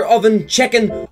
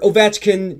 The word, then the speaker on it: Ovechkin: the one, the only, Alexander Ovenchicken, or Ovechkin, just depending on what side of the world you're from will depend on how you pronounce his goddamn name.